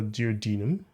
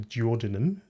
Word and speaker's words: duodenum: to be concerned with are the duodenum, or the duodenum, whichever way you choose to pronounce it, which is where digestion is completed.